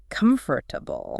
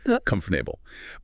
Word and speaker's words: comfortable: Comfortable. You do. That's the mistake. Comfortable. But native speakers almost always reduce it. The correct pronunciation is oakt mf.ta.bl cumf tubul p. C-U-M-F, tubul, 3 syllables.